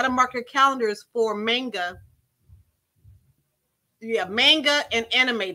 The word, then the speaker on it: manga: just to believe know about manga manga I've been saying it wrong it's Manga and Anime day so